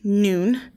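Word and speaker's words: νῦν: beginning but now jesus noon is the greek word meaning now it is pronounced noon but it means now it means at the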